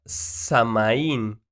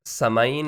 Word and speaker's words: Samhain: años tenía una tradición llamada samaín imagine samhain digo la pronunciación si tiene que ser forzosamente diferente pero así se escribe significaba el final del